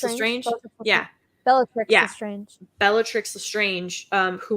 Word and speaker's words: Bellatrix: I'm gonna get her name wrong. Beatrix Lestrange. Yeah. Bellatrix Yeah.